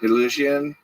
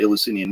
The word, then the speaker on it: Eleusinian: Eleusinian.